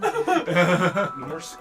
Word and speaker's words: Morsq: The T is silent. Shoot. Okay, so it's Mortimer then? Morsq.